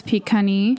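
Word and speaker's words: Pikani: One that I did notice while I was editing specifically is Pagan. That is a little bit closer to how it should be pronounced. The other is Picani.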